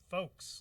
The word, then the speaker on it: Faux: so i just realized i've been saying your name wrong now what's that i thought was saying it was folks like you know with